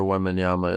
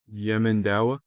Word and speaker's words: Wembanyama: Then look up how tall Victor Wembanyama is. Actually, I'm not gonna hurt your brain by trying to spell that. Yemendawa?